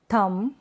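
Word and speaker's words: thumb: Examples देख लेते हैं इन स्पेलिंग्स के, जैसे कि कॉम, बॉम, थम, क्लाइम, टॉम, क्रम, लैम।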